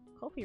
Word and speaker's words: Ko-fi: Ko-fi rhymes with no-fi, by the way.